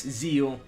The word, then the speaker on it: Zexal: the dub version of zeal or yes zeal the x is silent it's a graphic but i guess in the dub they count the x i don't know i